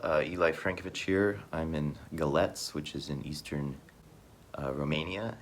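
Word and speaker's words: Galați: I'm in Galets, which is in eastern Romania, and it's a port city, Romania's primary port. It's spelled Galati, but pronounced Galets, more or less.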